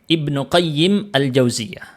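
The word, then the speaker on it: Ibnu Qayyim al-Jauziyah: Imam Ibnu qayyim aljauziyah cara bacanya Ibnu qayyim aljauziyah jadi ada Madrasah aljauziyah di masa lalu punyanya mazhab Hambali dari keluarga Ibnu jauzi jadi beda Ibnul jauzi beda dengan Ibnu qayyim aljauziyah itu dua orang yang berbeda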